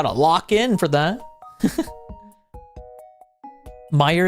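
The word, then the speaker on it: Meijer: Meer is the pronunciation.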